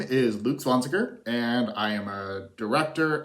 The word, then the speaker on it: Zwanziger: My name is Luke Zwanziger, and I am a director, editor, screenwriter, I should just say filmmaker, and improviser, living in Portland, Oregon.